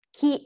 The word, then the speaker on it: chi: So chi and che, we do not pronounce the H, but the H is there, so the sound becomes like chi, che.